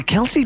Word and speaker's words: Kelce: in the past pronounced it as Kel the Kelsey pronunciation came out on top after Travis and his